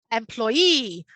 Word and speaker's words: employee: number of syllables first employee and then noticing that the students have to put the stress on the last syllable so now i'd be